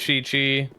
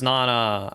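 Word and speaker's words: 七: Seven is in Japanese. Sometimes it's Shi-Chi, sometimes it's Nana.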